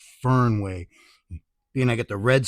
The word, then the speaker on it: Fernway: This is a 510 style vape cart with some oils from the I want to say it correctly. I want to say Fenway, but it's Fernway being I got the Red Sox hat.